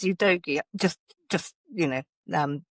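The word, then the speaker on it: Udogie: and we goti back I had to look up how to pronounce ydogi the last night because I started calling him ud you doi thinking it was you know the right thing to say but it is you doi just just you know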